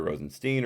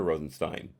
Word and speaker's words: Rosenstein: or translate doesn't mind he said in an interview that it can be pronounced either Rosenstein or Rosenstein I don't know if